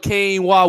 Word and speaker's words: quinoa: I didn't know how to pronounce it at first. I thought it was quinoa. Yeah, I'm like, what the? How you say that? Quinoa, which sounds like you got like a Spanish origin to it or something like that.